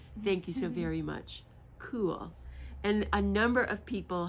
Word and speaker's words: Caol: she told me that it is pronounced as cool c l and I was so